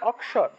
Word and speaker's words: অক্ষর: অক্ষর বলে থাকি কিন্তু কিন্তু সংস্কৃত উচ্চারণটা কিভাবে হবে ক যোগ মূর্ধন্য ভেঙে যাবে উচ্চারণটা হবে অক্ষর উচ্চারণটা হবে অক্ষর অক্ষর